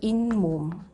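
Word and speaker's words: 잇몸: 이것도 인몸 이렇게 바뀝니다. 그러면은 이거는 2번에 해당이 되겠죠. 니은 미음 앞에서 니은 소리가 덧나는 거.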